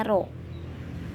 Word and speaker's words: rho: Ini bacanya Rho.